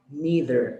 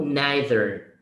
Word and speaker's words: neither: Neither or neither. Two different pronunciation. For me is neither.